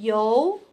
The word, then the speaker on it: 游: 这个字念游，可以组词游玩上游。